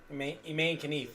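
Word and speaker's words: Imane Khelif: Is spelled the same. Iman Khalif. Iman Khalif. Iman Khalif is right, yes. Humane Khalif. Iman Khalif.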